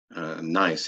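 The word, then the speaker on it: gneiss: and turn into a nice nice is spelled g-n-e-i-s it's a German word um so good nice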